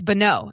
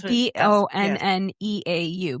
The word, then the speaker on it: Bonneau: It's Bonneau. That's what what it is. B O N N E A U Bonneau. going to say. Okay. So it's Bonneau Annabelle Strecker and they're calling her Bo.